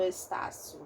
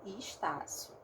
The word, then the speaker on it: Estácio: Vocês percebam que eu não falo Estácio, né? Estácio, eu falo Estácio, né?